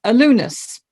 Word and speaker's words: Allonus: name is joy wisdom and the founder of alunus uh zestify programs yeah yes yes that's it